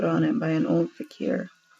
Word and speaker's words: Fakir: Fakir? I don't know. He's just like a magic person. Let me actually look this up because I don't want to accidentally say it wrong. It's Fakir.